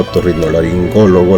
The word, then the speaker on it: otorrinolaringólogo: igual que la primera la palabra otorrinolaringólogo la sílaba tónica es la antepenúltima es una palabra esdrújula Entonces no olvidemos la